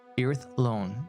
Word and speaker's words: Irithlone: Irithlone is how you pronounce it, so everyone's aware.